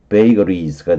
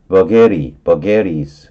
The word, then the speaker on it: vagaries: 베이커리 비슷하게 발음하면은, 어, 베이거리스가 되는 거고요.